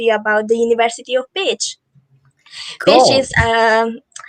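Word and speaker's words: Pécs: i supposed how is the correct way to pronounce again so i learn it's pitch university of pitch pitch okay cool all right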